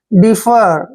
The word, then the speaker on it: defer: देखिए डी का उच्चारण क्या कर रहे हैं, डे, और ई को देखिए यहाँ पर ई पढ़ेंगे, FE को भी फ पढ़ते हैं और आर को रे। डिफर क्या पढ़ते हैं, डिफर, डिफर होता है देर